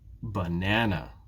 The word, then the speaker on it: banana: it's canada canada ah but it's not the case in banana which syllable and banana is stressed it's the second syllable banana banana here are two more